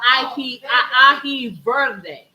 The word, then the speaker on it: ají verde: No, the green one is called ají verde, because verde means green.